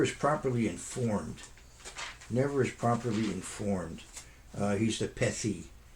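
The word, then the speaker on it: פתי: He's the Pethi. Pei Tav Yud. We pronounce it Peti.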